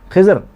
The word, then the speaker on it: خضر: در دیدش قدر۔ خضر، خضر مختلف قسم کے تلفظ ہے خضر علیہ السلام کے نام کے ساتھ، خضر بھی کہتے ہیں، خضر بھی کہتے ہیں، خضر بھی کہتے ہیں، سب کہتے ہیں۔ تو یہاں پر شاعری